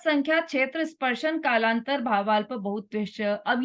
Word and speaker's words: बहुत्वैश्च: है ना, डबल मात्रा है ना, तो उसका उच्चारण वैसा बहुत्वैश्च, बहुत्वैश्च, ऐसा डबल मात्रा का डबल उच्चारण, मतलब वैसा ही उच्चारण करना है।